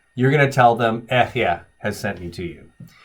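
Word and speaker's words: אֶהְיֶה: I am, in Hebrew, is ehyeh. That's how you say I am. And so the first time, God says to Moses, you're going to tell them, ehyeh has sent me to you.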